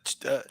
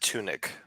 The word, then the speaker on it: Tudyk: I'm never sure how to pronounce his name. I'll I say think it's Tudyk. I pronounce it tunic, like a tunic. I thought there was a D in there though. The D might be silent.